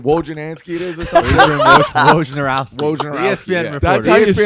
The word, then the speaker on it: Wojnarowski: Wojnarowski.